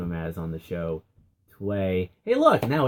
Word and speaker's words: Tway: I am being joined by the Assistant Commissioner of the DCHL, Tway.